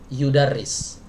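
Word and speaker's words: يُدَرِّسُ: Nah, gitu, yang mengajar di kampus Al-Azhar, berarti bacanya yudarris. Alladzi yudarrisu fi Jami'atil Azhar. Tapi kalau belajar yadrusu. Ada dua cara baca. Tergantung niatnya pengen apa nih, mau belajar apa mau ngajar.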